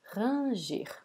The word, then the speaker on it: ranger: we are talking about Raji Raji so repeat so I know this word is pronounced in a very different way in English right we say Ranger but they are written the same way let's check it as